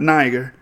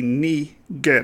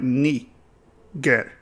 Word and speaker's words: Niger: It's not Niger. That's the English, British tongue speaking. But the Latin would be Niger, because the I is pronounced like two E's. So it would be like Niger.